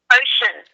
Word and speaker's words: Ochun: goddess, whatever, of the ocean, which is spelled OCHUN, ocean.